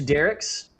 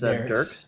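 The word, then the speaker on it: Dierks: Uh, for those of you along Highway 70 into Derek's, and I've had locals tell me that's what it's called, even though it looks like it's Durks.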